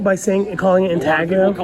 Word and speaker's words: intaglio: Yeah, and now I've started doing reverse intaglio work. Am I saying it wrong by calling it intaglio? People call it intaglio. As far as I understand it, the G is silent.